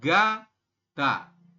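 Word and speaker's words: 가다: Giok di awal berarti dia berbunyi huruf G. Seperti ini ya. Kemudian setelah G, sampingnya, samping G ini, dia adalah vokal A. Jadi kita bacanya adalah ga.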